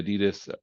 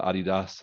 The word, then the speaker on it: Adidas: You know, and they'll still have like the Nike swoosh or the Adidas or the Adidas, if you pronounce it that way, because you're from Europe.